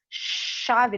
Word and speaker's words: chave: E tem o som do X, chave, não é? Né? Não tem esse kkk, né? Então eu tenho aqui um som de X, esse CH. Chave.